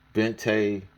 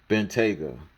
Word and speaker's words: Bentayga: Well, I forgot how to pronounce this. Bentayga. Bentayga.